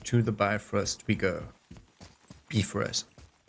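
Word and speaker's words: Bifröst: Bifrost is the correct pronunciation in Norse. Although you all will say Bifrost.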